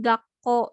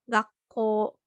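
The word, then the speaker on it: 学校: Nah, ini juga contoh lainnya kayak misalkan ini gakko ya. Kan ini belakangnya u, dibacanya enggak gakko. Gakko enggak dibacanya bukan seperti itu, tapi dibacanya panjang. Gakko, gakko.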